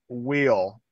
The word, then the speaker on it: Wheel: Okay, so it's pronounced wheel, like the wheel of a car.